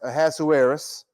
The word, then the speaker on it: Ahasuerus: I know a lot of times we just call him Ahasuerus, but from everything that I've listened to and read, that his name is pronounced Ahasuerus.